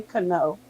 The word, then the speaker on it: Kano: And it's actually Kano. Kano. Okay. Yes. Why haven't you ever told us that? Because I thought you told when I was dumb. I thought you told me that I was pronouncing it right. No, when you said it the right way, that's what I was talking about. You said it right the second time.